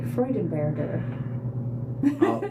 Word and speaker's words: Freudenberger: If the pronunciation is true to German, it would be it'd probably be Herbert, and it'd be Freudenberger.